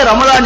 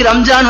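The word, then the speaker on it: رمضان: நாம் பேர் வைக்கலாம் ஆனால் உண்மையிலேயே ரமலான் என்பது ரா மீம் லாது அலிஃப் நூன் இதுதான் சரியான ஒரு உச்சரிப்பு அப்புறம் எப்படி மறுவி இப்படி ரம்ஜான் வந்துச்சு அப்படின்னா உருதுக்காரர்களினுடைய ஆதிக்கத்தினால் தான் இப்படி ரம்ஜான் மாறினது தமிழ் பல மக்களுக்கும் தெரியும் பொதுவா உருது பேசுறவங்களுக்கு இருக்கக்கூடிய ஒரு இது என்னன்னா அவர்களுக்கு இந்த லா சரியா உச்சரிக்க வராது லாது எங்கெல்லாம் வருதோ அங்கெல்லாம் ஜா போட்டு சொல்லிடுவாங்க இப்ப இருக்குல்ல இதை ஒரு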